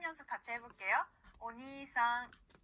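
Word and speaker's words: おにいさん: 자, 오빠, 형이라는 단어는요, 오니이상이 아니라 오니상 이렇게 니를 길게 늘려주시면 됩니다. 자, 발음 연습 같이 해볼게요. 오니상.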